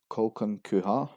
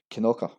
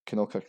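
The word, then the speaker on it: Kilconquhar: Located in the east of Fife, this is another name that doesn't sound as it's written. Kolkunkuha, Kolkunka are two of the most common mispronunciation. Challenging to everyone except locals, this is actually pronounced as Kinoka.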